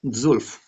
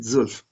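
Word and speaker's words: zwölf: चलिए मैं बताता हूँ, 12 का जर्मन शब्द होता है जुल्फ, ठीक है, जुल्फ।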